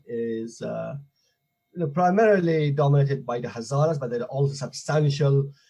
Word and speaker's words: Hazaras: So where does the Hazaras, am I pronouncing it right? Hazaras?